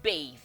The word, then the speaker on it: bathe: This is bathe with the E at the back.